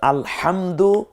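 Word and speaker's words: الحمد: যেমন আপনি পড়ছেন আলহামদুলিল্লাহি রব্বিল আলামিন, এ হচ্ছে সহিহ উচ্চারণ। কিন্তু আলহামদু এই যে উচ্চারণটা করলাম, এর অর্থ হচ্ছে সমস্ত প্রশংসা বিশ্বজাহানের পালনকারী লালনকারী আল্লাহ রব্বুল আলামিনের জন্য।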